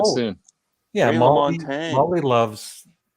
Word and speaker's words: LaMontagne: Yeah, Ray Molly LaMontagne. loves. How do you pronounce that name?